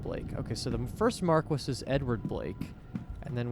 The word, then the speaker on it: Marquess: So this is how you say it. Marquis. So it is as it seems like it should be written, Marquis.